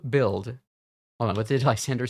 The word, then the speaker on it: Lysandre: I keep going back to here because I keep forgetting how to pronounce his name. Lysandre.